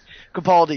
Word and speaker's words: Capaldi: Capaldi, yeah.